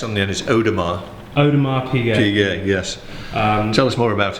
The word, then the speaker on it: Audemars Piguet: on Mars PJ very good but you don't pronounce the S on the others Odom an Audemars Piguet yes tell us more about it it's the